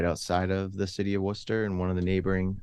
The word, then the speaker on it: Worcester: uh, Worcester, right? Yeah. Is that how you Worcester. pronounce it?